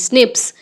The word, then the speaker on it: SNP: Number nine, scientists have identified about 1.4 million locations where single base DNA differences SNP is single nucleotide polymorphism pronounced as snips occur in humans.